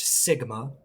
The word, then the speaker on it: sigma: and some variance the variance is this it's pronounced Sigma it looks kind of like a since it's